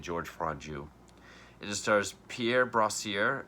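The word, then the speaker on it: Georges Franju: directed by george franjoux george ends with an s so i don't i'm saying george franju it just stars pierre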